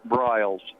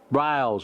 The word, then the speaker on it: Briles: BRS and am I pronouncing your last name right well we I've always called it BRS BRS okay well I call